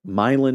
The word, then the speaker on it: Milan: Like I lived in Milin, Michigan, which is spelled Milan.